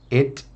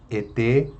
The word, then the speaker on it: et: Tem gente que fala et ou et. Não é et, é et. Veja que, para você pronunciar o t, você tem que deixar com que apenas o ar que está na boca saia, né?